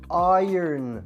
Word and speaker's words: iron: Sadece d harfi ekledim Demir ve ütüleme anlamına gelen bu kelime ise İron diye okunuyor ın değil o zaman en başa